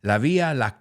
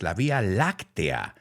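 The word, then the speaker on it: la Vía Láctea: on this week's episode and I used to mispronounce that word in Spanish I used to say La Villa but now I know it's La Via lactia and then I realized wait a second you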